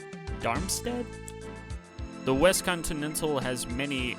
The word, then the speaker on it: Darmstadt: sea white wings and darmstead is how you pronounce it darmstadt the west continental has